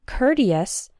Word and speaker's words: courteous: the words courtesy and courteous that same o Ur has an R sound as in the words N hurt and curtain courtesy courteous this R sound is